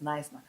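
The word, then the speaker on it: Knysna: will be at nner I didn't even know that it's pronounce as nice now nice now and then on Sunday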